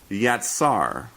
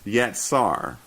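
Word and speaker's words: יצר: And it's pronounced yatsar. That's yatsar.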